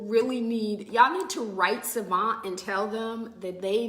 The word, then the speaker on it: Civant: I swear these people really y'all need to write Savant and tell them that they need me as